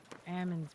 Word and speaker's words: almond: I like almonds better. You're like, what better? Almonds, almonds. I was gonna say, what the fuck did almond? Ellis, I think silent. You know the L is silent, right?